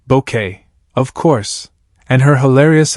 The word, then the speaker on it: Bucket: It's been over 3 decades since Keeping Up Appearances first aired, bringing endless laughs with the unforgettable Hyacinth Bucket, pronounced Bouquet, of course, and her hilarious attempts to climb the social ladder.